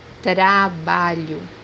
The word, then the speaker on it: trabalho: The second pronunciation is pronounced as letter Y in English, with more a closed sound. The example that we have here is word work, which means in Portuguese trabalho, trabalho, Then we have letter